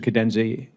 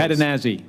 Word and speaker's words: Catanazzi: Vice Admiral Papineau and Mr. Cadenzi, and am I pronouncing that correctly? Catanazzi, close. Catanazzi, thank you.